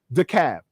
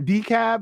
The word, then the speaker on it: DeKalb: Instead, pronounce it DeKalb, right? So it's not decab like the motherfucker said over there either.